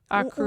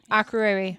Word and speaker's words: Akureyri: Akureyri. We don't know how to pronounce any of the Icelandic words. Did I get it? Akureyri.